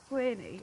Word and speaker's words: Gwynne: It's going to be Malice by, is it John Gwynne or John Gwynne?